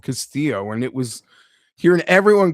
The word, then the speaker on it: Castillo: His last name is spelled Castillo like every other person in the world that you've seen Castillo, but they're calling him Castillio and then adding an extra I after the two L's.